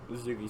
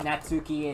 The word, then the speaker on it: Natsuki: features- You say that Natsuki and the T is silent for that, but the T right there, no, that ain't silent.